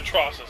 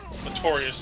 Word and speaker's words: Atrocitus: Yeah, Atrocitus, that's what his name is. I always say his name wrong. Artorias is what I said.